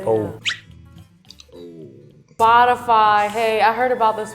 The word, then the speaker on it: Spotify: one more time please spotify and we have some shout outs spotify okay okay shout out to this guy uh it's actually it's like spot on spotify spotify optifine the